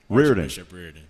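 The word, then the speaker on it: Riordan: Bishop – is it pronounced Redorian High School? Reardon. Bishop Reardon High School.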